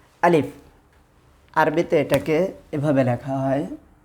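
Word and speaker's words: ألف: আলিফ এটা ভুল, বরং আলিফ।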